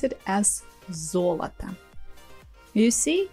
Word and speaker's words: золото: We pronounce it as золото. You see, it's the same construction, three letters or three consonants, but for some reason, this time the first о is stressed, золото, and the last two